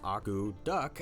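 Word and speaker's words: akutaq: The word aguduk, pronounced agu-duck, actually means to stir.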